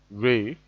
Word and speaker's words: re: D is pronounced do, do, while R is pronounced re, M is pronounced mi, F